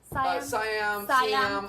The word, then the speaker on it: Siam: Siam. I mean, over in Thailand they say Siam actually. Siam, so yeah.